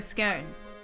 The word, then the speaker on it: scone: we go traffic cone the scone okay like it rhymes with cone as well